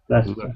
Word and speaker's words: Leicester: Actually, tell me which part, where is the actual sound in Leicester? Just part. Just, Leicester. Excellent. Here it is. Yeah. Esther, yeah, Leicester.